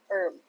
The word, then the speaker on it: herb: Hi po kuya ito herb Uy silent h herb herb chicken Oo Chris Hello din